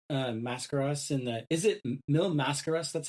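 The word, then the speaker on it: Mil Máscaras: There is like early on, like 10 or so minutes in, Destroyer knees Mascaras in the, is it Mil Mascaras?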